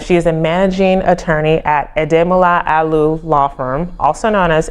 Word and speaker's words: Ademola Aliu: Please help me welcome Ademola Aliu. Hi. Hi. Did I get that right? Yes, Ademola Aliu. All right. I I have people get my name wrong so I definitely share your pain but